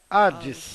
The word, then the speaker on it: Hades: H, ocasiones, que aparece algumas vezes sem serem pronunciadas. como cuando se lee Como quando você lê a palavra Hades.